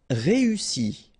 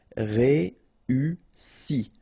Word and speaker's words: réussi: Réussi. Okay, first you've got this E, then U, and double S, so really strong S and E. Réussi.